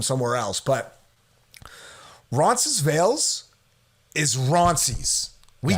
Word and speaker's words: Ronces: There's a new thing now that I hear time and time again that they call it Roncy. They'll say, "Oh, we're going to Roncy." But no, it's Roncies. We throw the S on that.